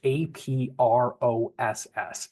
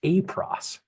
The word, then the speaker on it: APROSS: It's APROSS, APROSS, right? Kind of like a cross, but APROSS, right?